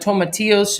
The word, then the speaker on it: tomatillos: us to know that tomatillos should be kind of pronounced like pillows domitilos she added a